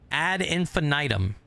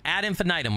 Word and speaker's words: Ad Infinitum: different pronunciations and we looked at the phonetic pronunciation this is actually how you say it I promise add infinitum right anyway add infinitum we're gonna we're going to play it tomorrow